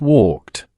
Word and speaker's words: walked: The last sound is which is voiceless. So the past tense is walked pronounced walked.